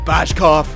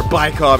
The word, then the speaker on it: Bykov: There we go, third goal of the playoffs for Patrick Bashkov. And there we go, or Bykov, it's properly pronounced.